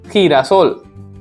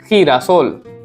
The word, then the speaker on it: girasol: G sounds like ha also and ga also. So girasol, sunflower is girasol, girasol.